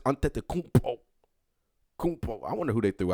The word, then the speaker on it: Antetokounmpo: I know how to say it. Giannis Antetokounmpo.